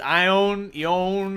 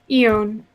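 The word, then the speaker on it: Ioun: Eon? How do you spell it? I-O-U-N. Eon. Eon. Okay.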